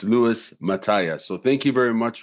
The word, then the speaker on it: Mataya: the last couple of years have I been pronouncing your last name correctly no no I haven't okay correct me please Mata mataya okay this whole time this whole time I've